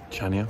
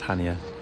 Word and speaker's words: Chania: we are off to chania i think it's pronounced hania um on crete it's